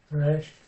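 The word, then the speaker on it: ריש: So if you're making a Hebrew R, it's a little bit like a French R. And the French R is at the back of the mouth. It goes resh, resh, resh.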